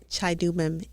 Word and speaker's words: Chidubem: c h i The d u, you pronounce it d o, do.